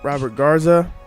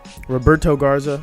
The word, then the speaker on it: Roberto Garza: people have trouble with drafting so I'm gonna Robert Garza Roberto Garza so I pronounced in his name all right so I